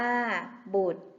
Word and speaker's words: บุตร: เกษตร อ่าน ว่า กเษตร บุตร อ่าน ว่า บุตร มิตร อ่าน ว่า มิตร